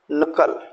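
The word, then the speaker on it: knuckle: तो आपको बोलना है, राइट, नॉब, नॉक, निकर्स, नकल, अ नाइट। यहाँ हमको के लेटर को साइलेंट रखना है और वर्ड्स को प्रोनाउंसिएशन करना है।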